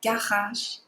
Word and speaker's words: garage: Remember, our letter R's are always in our throat. Le garage.